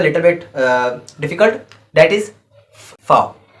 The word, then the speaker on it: V: That is fow. V is as fow. Fow. We pronounce as fow, starting with pronunciation with F.